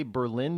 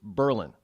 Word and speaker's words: Berlin: change in spelling just an official change in pronunciation and if you say Berlin New Hampshire you will be corrected rather forcefully it is Berlin now not to confuse Berlin New Hampshire with